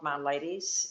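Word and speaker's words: Miladys: there for us um there's an organization called my ladies it's spelled m-i-l-a-d-y-s and um i want passport insurance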